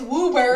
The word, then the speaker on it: Woburn: uber in no way it's woober yeah there's a town called woburn i know